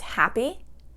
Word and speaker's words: happy: So the example that I have there is happy. Okay, happy. Happy. 2 syllables. Happy. 2 syllables, and it's an adjective, so the first syllable is going to take the stress.